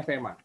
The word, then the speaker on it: F3MA: F3MA bacanya FEMA.